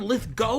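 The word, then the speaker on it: Lithgow: number three so John litho apparently it's John lith go not gal I've been saying it wrong this whole time John litho has confirmed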